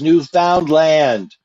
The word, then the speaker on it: Newfoundland: raka you're being schooled it's newfoundland it rhymes with understand understand i understand leo